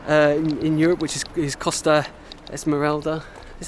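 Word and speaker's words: Costa Smeralda: most expensive coasts uh in europe which is costa esmeralda is how you pronounce it and sardinia right sheep outnumber the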